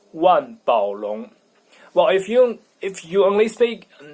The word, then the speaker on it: 万宝龙: So the pronunciation, well, German people learn everything, so they would pronounce it in a French way, Mont Blanc, like in French. But in Chinese, it's 万宝龙.